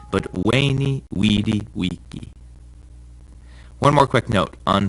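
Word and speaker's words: veni, vidi, vici: a bit of Latin the v in Latin is pronounced like a w sound so Caesar's famous saying isn't ven VD VG but wayy weedi Wei one more quick note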